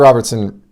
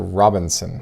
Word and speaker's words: Robertson: have it this is a 61 flier oscar robertson oscar robinson ricky rookie yeah robertson yes oscar off why was i mispronouncing it oscar robertson rookie this is the